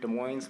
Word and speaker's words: Des Moines: i'm endless ninja fairy i'm from des moines washington where we pronounce the s um yes uh this